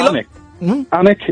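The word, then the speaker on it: Alnwick: of this town Simon because there will be anic in theand anex a a l n w i c k you know it's where Harry Potter was filmed and that you know anic Castle what you know it Ian how you've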